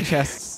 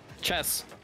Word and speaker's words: chests: Okay, say chests, then. Chests? Yeah. Chests. Chess. Stop like, saying just, like, chess. You're not saying chess. It's not chess. The T is not important.